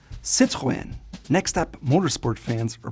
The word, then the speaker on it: Citroën: It's called Citroën, and the 2 dots on the E just mean that it has to be pronounced separately from the O and the N. Citroën.